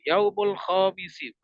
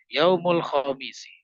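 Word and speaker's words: يوم الخميس: yaumuri Yaumul ARB gitu hari Kamis Yaumul khisi ya yang panjang mimnya bukan khnya kebanyakan ini juga salah begitu Yaumul khisi itu kurang tepat ya jadi diperhatikan Panjang pendeknya Yaumul khamisi hari Jumat Yaumul jumuati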